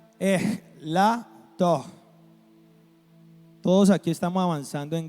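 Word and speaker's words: ἐλαττόω: Entonces, aquí donde dice que yo mengue, traduce el verbo griego elato, pero se pronuncia elato.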